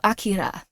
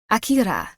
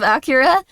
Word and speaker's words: Akira: correctly and then he pronounced it with like a really good foe like Japanese accent so Akira Akira and like like that like how it would be said in Japanese instead of Acura and like anime and